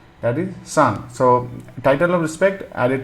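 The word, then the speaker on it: さん: in Japanese it is how do you say remember we say some right that is son so title of respect added to a name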